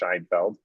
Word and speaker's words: Scheinfeld: Game by Robert Scheinfeld, which makes me think of Seinfeld, but I think it's pronounced Scheinfeld.